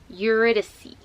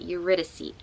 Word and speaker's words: Eurydice: So it's Eurydice. That is how you say that. Eurydice.